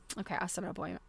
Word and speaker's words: Assiniboine: I'm wondering, is the Assiniboine. Okay, so the what do you call it? The stress. The stress syllable is the first one.